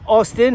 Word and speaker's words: Austin: Number 13, who wants his name pronounced in an Aussie way, that's Austin, and he's the captain tonight.